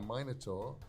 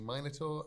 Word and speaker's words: Minotaur: Crimson Soul 21 says, if I asked nicely, could I ride a Minotaur like a horse? I'm English, I say Minotaur. Americans say Minotaur.